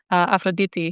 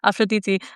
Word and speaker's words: Aphrodite: Aphroditi you know and I'm pronouncing her properly from now on actually I just I know I know it's like weird because when you speak English it's like Aphrodite you know but like Aphroditi like when you're when